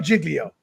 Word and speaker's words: Giglio: David, did I pronounce it? Is it Giglio or Giglio?